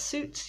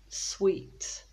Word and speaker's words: suit: then it's often confused it's often pronounced as sweet but sweet is a completely different thing so sweet as a